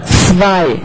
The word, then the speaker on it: zwei: And this one, this might be hardest for you, the ts. That's like in Chinese when you say the next time, xia ci. So it's ts. And then it's zwei.